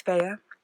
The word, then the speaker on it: Fea: So, but it is Fea. A lot of people call her Fee, and that's fine. I don't really care. But I call her Fea.